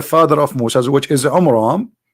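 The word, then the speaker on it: עמרם: Bible about the father of Moses which is AMRAAM not on wrong wrong wrong nation wrong name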